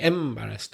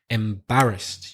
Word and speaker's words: embarrassed: Your pronunciation, you put stress on the first. I think you said like embarrassed or something like that. When you have a long word like that, it's very important to get the stress in the right place. It's the second syllable.